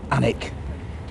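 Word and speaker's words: Alnwick: Saxon word for Homestead or farmstead it's obviously pronounced anik it was originally given to the daveshi family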